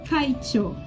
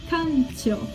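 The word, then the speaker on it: 館長: vi que ela não tava falando Kaicho, ela tava falando Kancho. Então a diferença era um i para um só no áudio eu não estava percebendo, eu não estava conseguindo escutar essa diferença da pronúncia dela.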